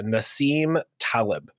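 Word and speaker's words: Nassim Taleb: or whatever also I I was looking at pronunciations earlier just because we want to be as accurate as you can and it's Nasim Talib thank you thank you well um the concept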